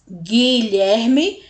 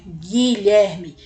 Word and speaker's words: Guilherme: a semivogal u né Guilherme ele nem é pronunciado u não é pronunciado a gente vai direto pro I por quê Porque o o u e o g formam um único som o som G tá bom lherme ler